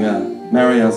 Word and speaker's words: Marielle: Well, ladies and gentlemen, I apologize beforehand, but I was mispronouncing Marielle's name.